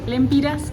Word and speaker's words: lempira: Aunque saliendo de Nicaragua no nos aceptaron córdobas, solo aceptaban dólares, pero entrando a Honduras podías pagar con dólares o lempiras, que es la moneda local.